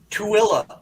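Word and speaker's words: Tooele: it's pronounced Eton okay thesis how do you pronounce that Utah Town tuilla TOA okay okay yep I would have rhymed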